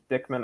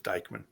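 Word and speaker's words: Dyckman: and it looks like dickman oval if it gets added will make the baker bowl look like a pitcher's park those of us closer to the bronx pronounce it as dikeman i'm moving straight out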